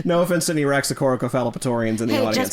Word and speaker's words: Raxacoricofallapatorian: No offense to any Raxacoricofallapatorians Damn it. No offense. You didn't say it right. No offense to any Raxacoricophalopatorians in the Hey, audience.